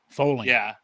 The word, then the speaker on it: Fowling: You got to pronounce it like bowling. Foaling.